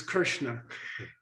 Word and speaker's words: Krishna: And by the way, vocalic R, which is is often corrupted to re, like crit or Krishna, Krishna, for example, which is Krishna.